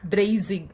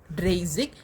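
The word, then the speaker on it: dreißig: இப்போ நம்ம அப்படியே 30க்கு வந்தோன்னு பார்த்தோம்னா ட்ரெய்சிக் அப்படின்னு பார்ப்போம். இது வந்து ஜி அப்படின்னு நம்ம ப்ரொனவுன்ஸ் பண்ணுவோம். ஓகேவா, ட்ரெய்சிக்.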